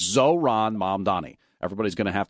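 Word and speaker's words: Zohran: Now, Curtis Sliwa, let's be clear, he says it as Zorhan, if we're being accurate. He can't say Zoran, there's no question about that, but he'll say Zorhan. That's his mispronunciation.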